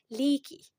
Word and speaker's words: leaky: لي بنطق الاي باسمها طب الستريس يعني الضغطه هتكون هنا على المقطع الاول هو اللي بيظهر في النطق وبيكون واضح فنقول ليكي ليكي انا وضحت الجزء الاولاني اكتر ليه لان بيكون عليه الستريس عرفت منين بيكون في